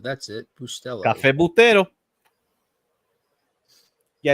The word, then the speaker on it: Bustelo: Cafe Bustelo. That's it. Bustelo. Cafe Bustero.